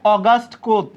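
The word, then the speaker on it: Auguste Comte: পান আপনারা দিবেন হচ্ছে অগাস্ট কোত কার নাম অগাস্ট কোত ইংরেজিতে এই বানানটা কেমন হয় জানেন ইংরেজিতে বানানটা অগস্ট কমতে এই যে অগস্ট কমতে কিন্তু বাংলায় কি অগস্ট কোত আপনারা ম্যাকাইভার অগস্ট কোত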